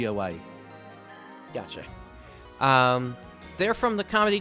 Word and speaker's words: Iwai: Yeah, because when it comes to I's in Japanese, it's pronounced as A. So it's Yuki Iwai.